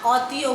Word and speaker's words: অতি: কিন্তু অনেক সময় দেখা যায় অয়ের উচ্চারণ কিছুটা বিকৃত হয়, অনেকটা ওয়ের মতন উচ্চারণ হয়। তোমাদের বইয়ে 2টো উদাহরণ দেওয়া আছে, অতি, অপু। ওখানে অপুও বলি না, অতিও বলি না, কি বলি? অতি, অপু।